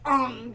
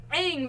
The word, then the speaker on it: Aang: Like you got Aang, and then they pronounce it Ung, and it's just like,